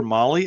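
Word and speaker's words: Mahle: For our podcast listeners, Molly is spelled M-HLE.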